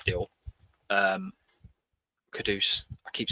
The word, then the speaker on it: Kudus: And to be fair, if everyone rightly remembers that before the Kudus deal, Kudus, I keep saying it wrong, everyone was in the same spot.